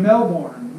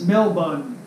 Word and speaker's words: Melbourne: argue with somebody from Australia I kept saying Melbourne Melbourne oh you're from Melbourne Australia well you know that's not you say it's Mel bun I would've never known that it's not it's